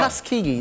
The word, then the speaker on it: Tuskegee: Tuskegee. Most people cannot pronounce it, but that's good.